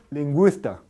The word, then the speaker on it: lingüista: qi entonces a ver no se dice lista sino Cómo se dice lingüista lingüista linguista no se